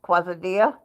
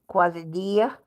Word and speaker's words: quesadilla: Quesadilla, pronounced quesadilla. Like in Spanish, the LL is Y, quesadilla.